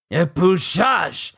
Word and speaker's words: épluchage: Épluchage! Épluchage! Épluchage. That's how you say it. It's a French word.